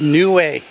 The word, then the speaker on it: Niue: Today I'm in the South Pacific and I'm in the truly exotic island nation of Niue. It is spelled N-I-U-E.